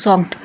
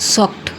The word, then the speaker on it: soaked: You might think it should be pronounced socked like two parts. But in English we say it quickly just one sound socked.